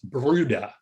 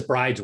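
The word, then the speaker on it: Bryde: interested i just uh specifically norwegian it's bruta that's everybody says brides whale um it's ballooned as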